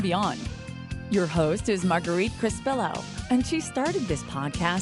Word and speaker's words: Crespillo: You know, some people say Crespillo, some say Crespillo. It just kind of depends. So, but How do you say it properly? I say it Crespillo, and so does his family, because like I said, they were born in Spain, and so they have